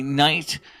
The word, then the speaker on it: knight: Just like if I say knight, as he is a knight in shining armor, K-N-I-G-H-T, it may say he's a knight, N-I-G-H-T. Please know that the K is silent.